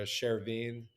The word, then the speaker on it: Chervin: me a message there Sherine 333 so my my name is pronounced Sherin okay and uh my